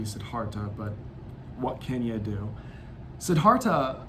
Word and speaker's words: Siddhartha: it as good and i'm probably mispronouncing siddhartha as la as well it should probably be sidharta but what kenya do